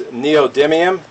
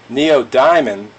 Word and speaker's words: neodymium: people pronounce the word but it's neodymium let me get verification from the lady that lives inside my computer hey lady how do you pronounce this neodymium again neodium thank you lady yeah I heard one person pronouncing at Neo Diamond so I was thinking